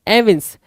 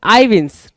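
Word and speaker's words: evince: कुछ लोग एविंस पढ़ेंगे, कुछ लोग आईविंस पढ़ेंगे, कोई इशू नहीं है, यहाँ पे पढ़ के बता भी रहा है, ठीक है, प्रोनाउंसिएशन यहाँ पे देने की कोशिश भी कर रहा है। सो एविंस भी ठीक है, आईविंस भी ठीक है।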